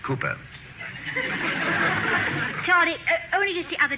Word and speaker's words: Cowper: it Mrs Hall William Cowper Cooper darling it is spelled Cowper but pronounced Cooper Charlie only just the other okay I heard you call him Cowper well I know my